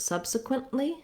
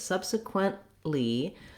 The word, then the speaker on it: subsequently: t sound then we when we add l y to make it subsequently subsequently we add the lee syllable and uh i definitely want to make sure i do that stop t in that case subsequently i move my tongue to the t slash l position and then i release